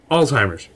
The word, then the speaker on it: Alzheimer's: Alzheimer's. That's how you say it.